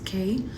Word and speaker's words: Kay: So for those who don't know me, my name is Kay. You can either call me Kay or even Kai, Kai being the Spanish pronunciation, Kay being the English American way to say my name.